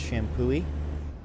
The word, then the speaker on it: Champoeg: park near us, but it's spelled Champoeg, and it's pronounced Shampooey.